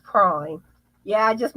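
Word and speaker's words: Prym: Prim hooks. Everyone pronounces it incorrectly. It's pronounced prime.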